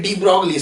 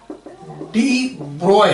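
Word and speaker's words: de Broglie: जैसे इसको आप लोग पढ़ते हैं डी ब्रॉगली, साइंटिस्ट का नाम है, लेकिन इसका करेक्ट जो प्रोनाउंसिएशन है, करेक्ट प्रोनाउंसिएशन इसका डी ब्रॉय है, BROY, डी ब्रॉय।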